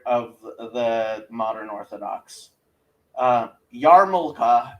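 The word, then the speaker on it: yarmulke: Uh, Yarmulka is spelled Y A R. Yes, there is an R in there for no good reason. M U L K E. Yeah, it's like that other L in R in February or whatever.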